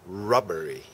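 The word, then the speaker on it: robbery: a high high ry 어 L 발음이 아니고 r 발음 rubbery rubbery that's a Highway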